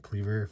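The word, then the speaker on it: Kleavor: a cool looking one click cleaver that's how you say it really cool but yeah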